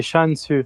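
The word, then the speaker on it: チャンス: ématique si on regarde la prononciation de chance en japonais ça fait chansu ch CHU donc du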